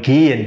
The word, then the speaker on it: gehen: Mais lorsque le H se trouve au milieu d'un mot, on ne le prononce pas. Par exemple, si on prend par exemple gehen, qui veut dire aller, donc là, on dit que gehen.